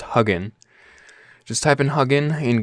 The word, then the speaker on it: Hugin: internet just type in it's actually pronounced hugging just type in hugging